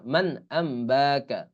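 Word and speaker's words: مَنْ أَنْبَأَكَ: calf জবর কা আম্বাকা মান আম্বাকা এই আম এই আমটা আবার এই নুনের নুনটা মিম উচ্চারিত হবে কারণ এখানে আবার ওই ইকলাব হয়েছে এখানে ওই সামনেই আমরা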